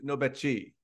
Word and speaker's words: Nobechi: And today we have Nobechi. I think I messed up that pronunciation.